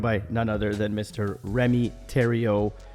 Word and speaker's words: Rémi Thériault: none other than Mr Remy Terio pronounced like Ontario but spelled a lot differently uh Remy is an